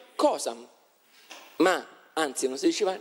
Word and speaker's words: causa: Oppure causa si diceva cosa. Infatti la parola cosa deriva da causa. D'accordo? Quindi non si diceva causam, si diceva cosam.